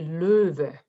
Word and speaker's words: Löwe: Actually, it's difficult in German because the two little points on the O means that you say Löwe.